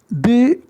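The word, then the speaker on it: the: यहाँ यह भी बता दें कि दी, अगर इसका अलग से प्रोनाउंसिएशन हो रहा है तो हम दी पढ़ रहे हैं, बट बिफोर एनी नाउन, किसी नाउन के पहले प्रयोग करेंगे तो इसे हम द पढ़ेंगे। एंड अगर ये वावेल ध्वनि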